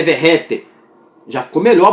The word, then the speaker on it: Vegetti: Aí a gente descobriu que não é Vegete, é Verrete.